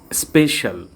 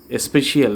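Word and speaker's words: special: স্পেশাল মানে বিশেষ, স্পেশিয়াল না, স্পেশাল মানে বিশেষ।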